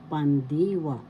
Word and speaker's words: pandiwa: Second syllable D syllable wa pandwa the second syllable has the accent so you pronounce it pandiwa that's verb tense means